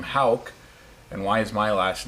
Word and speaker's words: Hauck: Yeah, and the most common mispronunciation of our last name, Hauck, is Hawk.